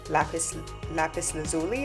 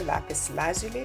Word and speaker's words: lapis lazuli: And this is a palm stone made of lapis lazuli or lapis lazuli, depending on how you pronounce it, and it's got the design Saraswati.